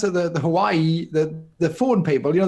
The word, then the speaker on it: Huawei: The Hawaii the phone people. You know, the phone people who are now banned from Google. Huawei.